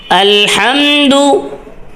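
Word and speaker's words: الحمد: রাজিম বিসমিল্লাহির রাহমানির রাহিম আলহামদু এখানে আলহামদু আলে আলে এরকম শব্দ শোনা যায় আলহামদু আর পেশের সময় ঠোঁট গোল হবে আলহামদুলিল্লাহি অনেক কে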